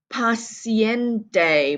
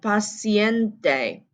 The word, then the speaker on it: paciente: Rule number 9, paciente, pronouncing the E on the end, paciente.